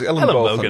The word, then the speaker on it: Ellenbogen: It's elbows in Dutch. But it is Ellenbogen, although you don't spell it with an N.